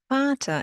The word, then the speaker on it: Vater: Vater is father. Yes, the German V sounds like an F.